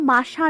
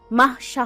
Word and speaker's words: মাহশা: মায়েশা কিছুটা বিরক্তি নিয়ে টেবিল ছেড়ে দরজার নিকট এগিয়ে আসতে আসতে বলে, আপনাদের কতবার বলেছি আমার নাম মাশা নয় মাহশা হবে।